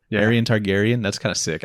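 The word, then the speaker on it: Aerion: runs into Aryan Targaryen is that how you say it a e r i o n Aryan probably Aran Targaryen that's kind of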